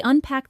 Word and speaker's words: unpack: They unpack the boxes after moving into their new apartment. When you say unpack, make sure to pronounce it clearly. Unpack. The stress is on the second part.